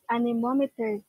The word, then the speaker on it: anemometer: that is pronounced anemometer okay so um based